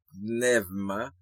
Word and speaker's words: pneuma: dit que c'est poumon, ou bien pneuma, ok, bien qui dit nouma, mais nous tendez m'a dit pneuma parce que c'est comme ça dans grec moderne que yo prononce.